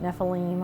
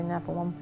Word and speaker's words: Nephilim: One was the Nephilim. Some people pronounce it Nephilim. I say Nephilim.